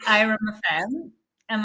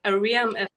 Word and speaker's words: Airam: two smiley girls today with me I have IR am I pronouncing that right yes okay people pronounce it like Aram FM but it's Iram FM Iram okay perfect